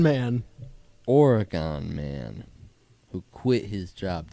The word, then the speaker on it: Oregon: Who is organ man? Oregon man who quit his job to set sail on the seven seas. Yeah. You hear how stupid it sounds when you pronounce it organ?